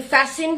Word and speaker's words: fasten: No tea is heard in fasten, hasten, which make them rhyme with arson, mason.